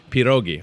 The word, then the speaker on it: pierogi: is national pierogi Day P dogie if you pronounce it correctly I think that's how it's pronounced is Peter Oggy I have had Pete